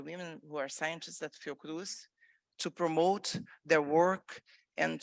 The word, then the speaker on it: Fiocruz: experience at, I'm going to mess up the pronunciation, but Fiocruz? Fiocruz, that's perfect.